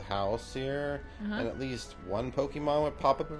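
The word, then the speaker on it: Pokémon: I'm passenger it's Pokemon it's not Pokemon it's pokemon it's there's an accent above the e it's nothing no no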